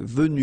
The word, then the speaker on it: venue: then the same thing, venu, you don't pronounce this final e.